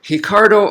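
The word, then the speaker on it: Ricardo: beginning of a word it becomes an H so his second R in cardo that R is an R like a normal R but the the first one becomes he so that's why I'm pronouncing is named that way in case you're wondering so just like hoist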